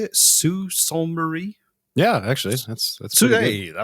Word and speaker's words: Sault Ste. Marie: Sault Ste. Marie?